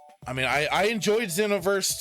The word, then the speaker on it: Xenoverse: Xenoverse, not Zenover.